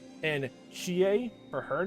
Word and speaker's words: Chie: Which I'm just realizing I'm in some discussion videos, technically it's Irie for Irie's name, and Chie for her name. But honestly, by this point, of me mispronouncing and failing to get the pronunciation right